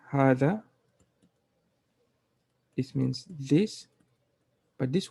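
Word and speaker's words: hadha: Dhalika, uh, by the way you pronounce hada is there's a small alif here, meaning you don't say hada, you say hada, and you say hadihi, okay?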